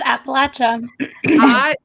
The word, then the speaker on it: Appalachian: address like i don't understand you know that's appalachian thank you for saying it correctly i live